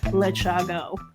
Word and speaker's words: Lechago: I've gotten some really strange interpretations of the pronunciation of my name, but you basically, what your strategy was, pronounce it as it is spelled.